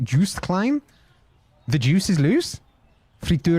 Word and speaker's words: Joost Klein: I think I'm the only one who would watch Eurovision this year purely for Jost Klein. Is that how you pronounce it? Joost Klein?